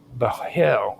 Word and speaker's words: bhel: The root Bahel or Bahel, which is spelled Bhel, which carries meanings related to brightness, shining, or whiteness, also has a wide reach.